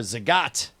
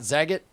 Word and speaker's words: Zagat: thing for a for Zagat did you know first of all did you know that there's Zagat and not zagit no no I mean